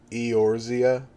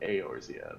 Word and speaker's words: Eorzea: Eorzea? Yeah, well, I imagine it's pronounced more like Eorzea, but it could be Eorzea. Orzea.